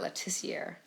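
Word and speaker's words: Le Tissier: The correct pronunciation is Matt Letizier.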